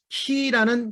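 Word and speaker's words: כי: 해가 어두워지고 달이 핏빛같이 변하려니와 블러드문, 누구든지 여호와의 이름을 부르는 자는 구원을 얻으리니 이는 이는이 키라는 히브리 단어를 썼습니다. 키 기억하십시오. 열쇠라는 단어하고 발음은 똑같습니다.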